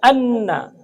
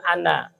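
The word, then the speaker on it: أنّ: Jadi harus ditahan. Anna Muhammadan. Jadi jangan ana. Ana artinya jadi saya kan.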